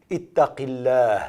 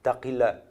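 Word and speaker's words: اتق الله: Ittaqillah, crains Allah, se prononce avec une légère différence. Taqillah.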